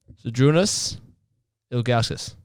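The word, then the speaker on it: Žydrūnas Ilgauskas: Zydrunas Ilgauskas.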